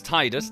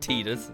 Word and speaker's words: Tidus: absurdly dressed mating character his name is titus no I'm not pronouncing it teeters it's ridiculous so yes this is titus